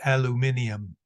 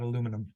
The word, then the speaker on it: aluminium: make one other observation in England this is pronounced aluminium not aluminum so you enjoy it